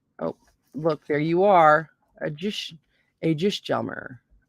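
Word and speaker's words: Ægishjálmur: Because in modern Icelandic, now those vowels have merged, you've got to kind of keep this consistent through the video, I'll use that modern Icelandic pronunciation because it's what most people have heard, and I'll say Ægisjalmur.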